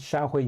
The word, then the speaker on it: Xiahui: The Japanese mentions Xiahui in a different way. Xiahui is the way you pronounce it in Chinese. So interesting how the Japanese pronounce it differently.